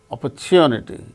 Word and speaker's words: opportunity: you for the opportunity opportunity in the case of the word opportunity chew that's the syllable gain stress in the word so